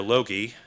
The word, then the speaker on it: logoi: presence in nature in terms of logoi or logie would be the byzantine pronunciation the refracted presence of